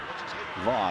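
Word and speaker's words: Vai: Is it Vay or Vi? Vi.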